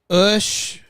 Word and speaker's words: Ush: Ush, pronounced like push without the P.